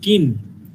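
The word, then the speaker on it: kiln: বলা হচ্ছে কিন। এল এর উচ্চারণ হবে না।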